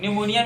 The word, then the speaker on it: pneumonia: हुआ था तो आप लोग पढेंगे निमोनिया के बारे में है को न्यूमोनिया अ कि सीक्वेंस पीढ़ी anuomkara60 वीडियोस में साइलेंट होता है निमोनिया पे साइलेंट होता है न्यूमोनिया होता क्या है एक्सीडेंट